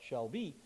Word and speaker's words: SHLB: the audience but um the uh shlb an unpronouncable acronyms they call it Shel be um and this is